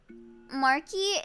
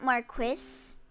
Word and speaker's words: marquis: Actually, like marquee is marquee, not Marquis.